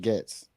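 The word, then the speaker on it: Goetz: Georgia said it's pronounced Getz. Getz. Okay. Bernie Getz.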